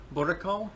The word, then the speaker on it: boerenkool: actually got and what's it how is it pronounced political boricol yes okay okay yeah i did it right